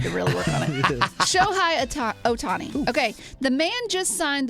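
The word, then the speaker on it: Shohei Ohtani: home run I've had to put it in pronunciation I've had to really work on it show high Otani okay the man just signed the biggest deal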